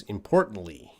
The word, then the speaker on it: importantly: you please rep pronounce importantly importantly i think it's a reduced t sound but i have heard some people say importantly but i think i reduce the t importantly importantly and tikka